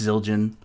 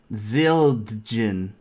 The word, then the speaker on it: Zildjian: this it's cold it's it's pronounced Zildjian symbolize that the other way Zil gin it's a it's a